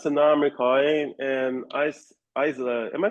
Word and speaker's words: Isa: So, now I'm recording and Isa, am I pronouncing your name correctly? Yeah, it's correct. Isa, yeah, thank you for joining me.